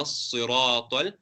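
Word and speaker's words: الصراط: The first Sad, you put a bit, you pronounce with a round mouth. Ihdina as-si, not ihdina as-si. Ihdina as-sirata al-mustaqim. Then the second Seen, you show your teeth because you can see the teeth of the Seen.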